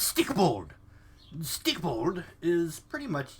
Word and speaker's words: Stikbold: amazingly hilarious and funny it's stick bold I think I'm pronouncing that right stick bold I believe it's Nordic but it's stick bold stick bold is pretty